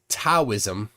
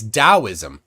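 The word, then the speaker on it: Taoism: um Jason says it it's not taism it's dosm now somewhere a d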